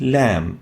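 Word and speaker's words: ل: tip litter and it's named lamb as in lamb named lamb pronounced lamb lamb the next letter is the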